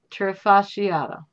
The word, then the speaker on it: trifasciata: Can we get that broken down into syllables? See, this is the scientific name. Melanotanea trifasciata.